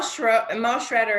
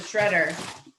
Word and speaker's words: Schroeder: Mel Schroeder is the illustrator for this book, and she did such, I always used to call her Schroeder, but she pronounces it Shredder.